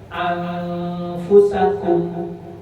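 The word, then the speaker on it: أنفسكم: Ketika kita baca anfu, itu salah baca. Walaupun samar, itu salah. Menyamarkannya yang salah, tetapi itu tidak merubah arti. Tapi walaupun tidak merubah arti tetap salah karena cara bacanya salah.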